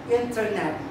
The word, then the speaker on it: internet: Say for example, internet. Okay, how do you say that? How do you read this one? It's internet, right? In English, in English pronunciation, they said internet. But in United States, in United Kingdom rather, I say, they pronounce as internet. Okay, so it's a silent T.